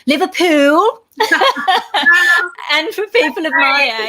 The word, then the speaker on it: Liverpool: So you were actually born in Liverpool, and I'm going to have to do it and just tell people it's actually pronounced Liverpool.